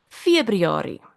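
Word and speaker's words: Februarie: February.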